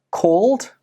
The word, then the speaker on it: called: Even though these words are spelt with an ed, they do not end with an id sound. Instead, they end with the d sound.